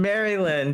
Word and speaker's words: Maryland: Wait, is it Maryland? Is it M A Maryland? Maryland. Yes. Oh, M A R Y. Sorry, I thought you were saying it like this.